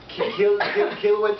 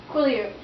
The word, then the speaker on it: Quileute: I can't pronounce this. Okay, Katie, help me with it. Kilowatt Folk Stories and Art? Quileute.